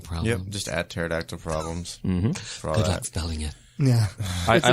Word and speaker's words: pterodactyl: facebook twitter instagram under pterodactyl cries yeah just add pterodactyl problems yeah I like to say Patera dak tile that kind of helps me remember how to spell it yeah the P is silent yeah it's like the